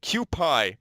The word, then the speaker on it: Kuipie: So Kuipie, that is how you say his name.